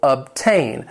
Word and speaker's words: obtain: It has 2 syllables. The stress is on that second syllable, obtain. And the stress is on that second syllable because this is a verb, to obtain something.